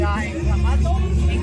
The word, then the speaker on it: Clamato: Oh, it's salt, lime, something like a soy sauce, and clamato. Clamato. What's a clamato? Clamato. How do you pronounce it in English? Clamato? No, clamato. Clamato, yes. No, it's a tomato juice.